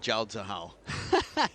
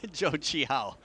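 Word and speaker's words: Zhou Qihao: Joi, sorry, not Jaoah. Joe Chihao.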